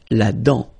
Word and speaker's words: dent: La dent. Final T not pronounced. La dent.